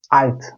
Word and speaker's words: Alt: Almancada L harfi yüksek Almancada her zaman ince L ile telaffuz edilir. Mesela çok kritik, çok kullanılan bir kelimeden örnek verelim. Alt.